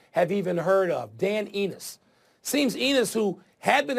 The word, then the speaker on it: Enos: the way Dan left eNOS is how they're pronouncing it I don't feel bad